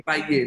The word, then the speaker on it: cahier: काहिए फिर ह साउंड नहीं एग्जिस्ट करती है फ्रेंच. काहिए सॉरी काहिए.